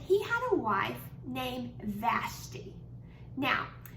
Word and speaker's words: Vashti: had a wife named vashti now some people say vashtai i say vashti i'm not all sure how you used to say it we're gonna go with vashti this morning now vashti